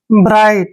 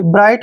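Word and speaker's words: bright: आई जी एच टी यहां पर टी से पहले जब भी जी एच आता है वहां जी एच को हम साइलेंट रखते हैं बी का उच्चारण ब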